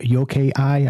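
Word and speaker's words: yokai: The shape-shifting yoke eye, I think is how you say it, to yo k a i.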